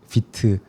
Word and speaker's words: Vite: 어 이제 프론트엔드 개발할 때 요즘에 많이 쓰이는 도구가 비트 어 혹은 화이트라고도 잘못 발음되는 아무튼 그 툴이 있는데 그 툴이 이제 플러그인들이 굉장히 많고 그 플러그인 어 생태계가 엄청 크거든요.